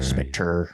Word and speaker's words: Spectre: It's Spectre. Yeah. Spectre. I think it's just Spectre. Spectre. It's like Dre for truth, isn't it? It's got the R-E, so it's Spectre.